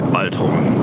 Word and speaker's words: Baltrum: I should really say Baltrum because I do know how to pronounce these German words.